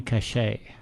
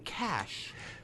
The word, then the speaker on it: cachet: the same cachet yeah so is that how that word's pronounced yes I've been saying cash it's you know it's too similar to Johnny Cash so you have to you have to do it the French way so we're doing a